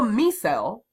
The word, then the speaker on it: micelle: droplet we call a micelle spelled like Michelle but without the H so a little me cell or myself little micelle